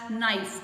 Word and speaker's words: knife: Here K is silent, as knife, K-N-I-F-E.